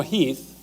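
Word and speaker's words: Heth: Lee's intent actually is to kind of let General Heath, it's spelled H8, but it's pronounced Heath, to do a little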